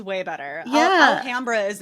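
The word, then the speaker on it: Alhambra: it to sound fancier it's not alhamra it's alah Hamra I did I said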